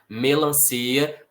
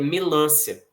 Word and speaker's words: melancia: Melancia, parece que tem circunflexo nesse A, mas não tem. Por quê? Porque senão a gente daria força pro A. E aí ficaria melancia, tá? A força não é no A, a força é no I, melancia.